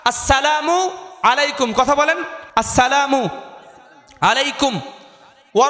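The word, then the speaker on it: السلام عليكم: সুতরাং আজকের প্রোগ্রাম থেকে আমরা কমপক্ষে সবাই উচ্চারণ করছি আসসালামু, বলেন আসসালামু আলাইকুম, অনেকে বলে আসসালামু আলাইকুম, জি না, চলবে না, আসসালামু আলাইকুম, কথা বলেন আসসালামু আলাইকুম ওয়া রাহমাতুল্লাহি ওয়া বারাকাতু ওয়া বারাকাতু, আসসালামু আলাইকুম ওয়া রাহমাতুল্লাহি ওয়া বারাকাতু।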